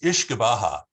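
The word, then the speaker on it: uisce beatha: is ishgaba actually it's ish baja is how they pronounce it in ireland and scotland it's ishikawa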